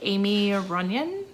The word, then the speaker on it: Aimie Runyan: talk about is across the winding river by amy runyan that's how you pronounce it so we have our main character